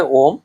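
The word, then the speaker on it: ohm: ওহম মানে তোমরা জানো, ঠিক উচ্চারণটা হবে ওহম।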